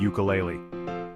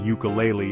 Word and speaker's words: ukulele: like unicorn and ukulele these words start with the letter U but they sound like they begin with u even though they start with U the sound they make is more like a u which is a consonant sound so we say a